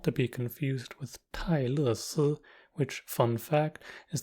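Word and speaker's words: 泰勒: It's just that the R is dropped, so Taylor becomes Tai Le. This version arguably sounds closer to the original because they now both have 2 syllables.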